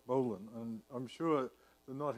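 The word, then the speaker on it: bowline: name but in English bull the bowl and pronounce Bolin and I'm sure the knot has a Japanese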